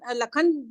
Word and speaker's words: लखन: लेकिन जैसे आपने हाँ कहा कि बीच में अगर लखन लखन में श बीच में आया है तो लखन ही कहेंगे, लक्षण नहीं कहेंगे।